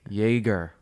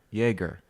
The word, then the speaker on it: Jaeger: Yaga versus Jeff eight Jaeger they even said it Jaeger like Meister but without a J like the drink yes all right well